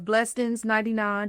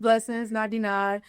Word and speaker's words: Blessends99: and entrepreneur, owner of Blessends99. Did I say it right? Yeah, blessings. Blessends99. But you got to see how it's like Bless Ends 99. Like blessed ends, like money, Well, right?